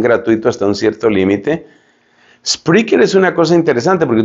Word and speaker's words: Spreaker: Se escribe Spreaker. Spreaker.